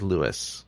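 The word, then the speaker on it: St. Louis: uh today today we watched Meet Me In St Louis or Meet Me In St Louis however you prefer to pronounce it Judy corrects that man in the movie that it is lwis yes so but not in the song So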